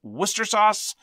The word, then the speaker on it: Worcestershire: L-E-I-C-E-S-T-E-R, very much like Worcestershire sauce, which is pronounced Worcester sauce.